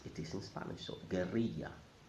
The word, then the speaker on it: guerrilla: In Spanish, it's pronounced guerrilla. So if you're speaking in Spanish, you must pronounce it as it is in Spanish. So guerrilla, not gorilla.